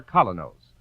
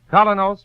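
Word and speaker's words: Kolynos: business and social life ask your druggist for colonos a high polishing toothpaste tonight that's spelled k o l y n o s colos toothpaste you've been listening to Mr Keen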